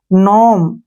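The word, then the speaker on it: gnome: ई इसमें क्या है एन से पहले क्या आ गया जी जी को छोड़ देंगे इसको पढ़ेंगे सारे को नोम क्या पढ़ेंगे नोम जैसे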